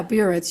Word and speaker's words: Biritz: Barnett? Yeah, Barnett. You pronounced it just right.